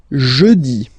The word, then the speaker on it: jeudi: Next one, jeudi. Jeudi. Remember, when you combine this U, you get the sound E. Jeudi. Jeudi. So I insist a little bit, so make it softer.